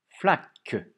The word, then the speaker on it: flaque: Une flaque. Flaque, 2 syllabes dans flaque. C'est le que de phoque. Flaque. Attention, écoutez bien la première syllabe. Flaque. Et il y a une lettre muette à la fin.